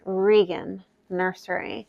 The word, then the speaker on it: Regan Nursery: so you know uh in the event that you want to say pronounce the name it is regan nursery so that's update number